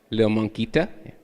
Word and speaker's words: lilmonkita: It's LILMONKITA, Lil Monquita, if you want it pronounced.